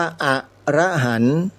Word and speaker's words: อรหันต์: ไม่ สิ้น พระ อรหันต์ คำ ว่า อรหันต์ โยม อย่า ไป อ่าน ผิด นะ ถ้า อ่าน ผิด มัน จะ เพี้ยน เลย ความ หมาย เพี้ยน ไป เลย ที่ ถูก ต้อง ออก เสียง ว่า อรหันต์ มี ใคร ไป ออก เสียง เป็น อย่าง อื่น มั้ย โดย เฉพาะ ออก ว่า อรหันต์ อรหันต์ ผิด ตอบ ทัน ที เลย